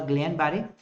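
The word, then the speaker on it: Guillain-Barré: battery or Gian barrier so many pronunciation I have heard but none of them say is the right so it is the Glen Barry it's a autoimmune disease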